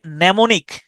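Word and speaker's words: mnemonic: তারপরে নেমনিক নেমনিক এই শব্দটার উচ্চারণেও প্রথম এম শব্দটা উচ্চারিত হয় না এটাকে আপনি এভাবে মনে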